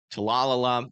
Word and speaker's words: Talala: Talalala needs to be in their safe spots. You guys are next in line north of Talalala as well. Talala, I think, actually, is how you say it.